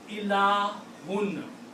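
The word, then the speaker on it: إلهٌ: Remember the rule is that whenever you see 2 dhammas or 2 pesh at the last letter, that's a noun. Okay? So the word is pronounced ilahun. Ilahun, if I write down it together, it will be ilahun.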